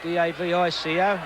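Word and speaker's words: Davico: Devo I think he it's pronounced DAV Ico he's a good lad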